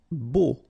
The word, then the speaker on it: beau: Beau. Okay, so remember we've got this strange combination of vowels. A, U, so 3 vowels, but then phonetically it's only O. Okay, so beau. Grillé.